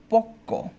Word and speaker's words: পক্ক: কিন্তু আমরা এখানেও কি, যেহেতু এখানে বফলা শব্দের শেষে আছে তাই আমরা বয়ের উচ্চারণ করি না। আমরা যে বর্ণের সাথে আছে সে বর্ণটাকে দ্বিত করি, কয়ের সাথে আছে বলে কটাকে দ্বিত করতে হবে।